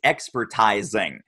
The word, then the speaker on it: expertising: uh the way I the way I pronounce my invented word is expertising oh yes expertising yourself right it's raising like the teasing bit but anyway it it